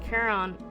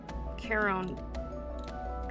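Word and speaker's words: Charon: Oh, it's pronounced Kiron. Kiron.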